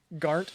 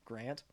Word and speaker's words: Garnt: Yeah, everybody says his name wrong. Everybody calls him Grant.